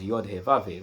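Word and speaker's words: Yahweh: the tetrogrammaton y hw, which is read as yave." That's that's a word that is not pronounced in Hebrew.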